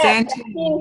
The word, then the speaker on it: Santin: And I apologize if I mispronounced your last name. It's Santin. That's okay. Yeah, Santin, yes.